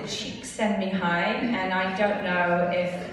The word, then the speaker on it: Csikszentmihalyi: They say to pronounce it Csikszentmihalyi, and I don't know if anybody would correct.